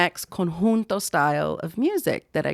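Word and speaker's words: conjunto: and I was like, "Hey guys, it's not cinjun, it's konhunto, it's tahano." And I know it's it's similar, but it's not konhunto.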